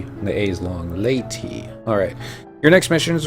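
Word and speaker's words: Leaute: Ah, laity. That's how it's pronounced. Laity, not lute. I guess they use silent. And so's the E, and the A is long. Laity.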